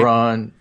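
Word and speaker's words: Braun: he pronounce his name Brown who Brown BR yeah I think he does say brown but even though it's spelled like Brawn b r n won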